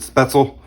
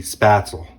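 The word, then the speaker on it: Spätzle: In the United States, we technically pronounce it Spaetzel. But if you're over in Germany, the A is more accentuated, and it would be Spaetzel.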